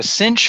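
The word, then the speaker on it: sinh: a quick note on the inverse cinch the Cinch function which we'll talk about later in the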